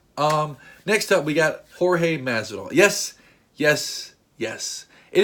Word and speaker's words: Jorge: a lot of people I hear calling him George Mass at all and that is a wrong George is spelled GE o rg8 Jorge like I said is Jo r GE and